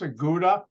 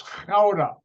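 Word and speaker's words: Gouda: the Dutch city which you spell g-o-u-d-a Americans pronounced aguda you know where the cheese comes from nope it's clouda and I worked in howda I would stay in The Hague which Dutch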